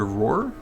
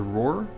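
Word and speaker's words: Ror: down and kill Overlord roar or raar what how do you say that r o r I'd say Roar and then run back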